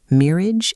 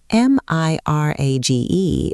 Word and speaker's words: mirage: And not waiting for Valency to give it up, he added, "Mirrage and marriage." M I R A G E is pronounced mirage, said Valency shortly, picking up her tea and her beans.